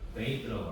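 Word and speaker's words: bathe: 목욕하다는 여기에 이제 이를 붙여가지고 베이트라고 합니다. 베이트, 그렇죠? 베이트. 네, 이거는 베스트, 스에 더 가깝고요. 이거는 베이트, 뜨에 더 가깝습니다. 그래서 이거는 이거는 뜨. 이런 식으로 발음하면 좋을 것 같아요.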